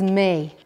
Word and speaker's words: mé: Right, the word for me or I is may.